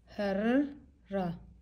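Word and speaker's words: هرّة: ano yung vowel Nia may shadda tayo doon so Double ra and then fath and yung tamar buta which is silent So paano natin siya basahin har ra harra harra na ang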